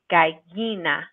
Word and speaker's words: gallina: When we see one L, we say it just like L. But if we see two L's, then we should say it like Y. So caballo and gallina. Perfect. So double L and it makes the Y sound.